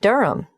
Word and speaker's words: Durham: of course I should know that but it's just one of those names that sounds quite different from the way you spell it it is confusing I've